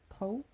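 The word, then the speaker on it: τ: 근데 그 중에서 벡터에 해당한다 라는 거고, 그래서 그거를 돌림임 또는 영어로 토크라고 하고, 뭐 이거 타우 이 막 이렇게 쓰는 이 기호는 타우라고 읽는 걸로 알고 있습니다.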